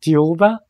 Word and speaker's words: Thiaoouba: book is theuba prophecy theuba is pronounced as the diuba in the French pronunciation and the spelling is